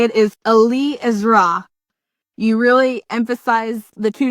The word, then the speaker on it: Eliezra: from you on uh on the correct uh pronunciation okay well the correct way to say it is Ali isra you really emphasize the two different Hales and